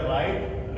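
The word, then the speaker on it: write: किसी शब्द के शुरुआत में डब्लू आए उसके तुरंत बाद में आर आए। तो यहां डब्लू फिर आर यहां डब्लू फिर आर यहां डब्लू फिर आर तो इसमें डब्लू जो है हमारा वो साइलेंट रहेगा तो इससे बन जाएगा राइट रेट रोंग तो हमने ये कुछ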